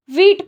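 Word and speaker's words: Vite: सकते हैं या आपको ओवरव्यू दे रखा है वीट का फ्रेंच वर्ड क्विक प्रोनाउंस जिको छोड़ो बिल्ड इन टूल टूल है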